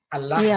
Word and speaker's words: Allah: Allah gitu kan. Iya, makanya kami baca Allah bukan Allah. Kami bukan kami membacanya bukan Allah, tapi jadi ada lam ada lam di sana. Lam itu pakai tasdid.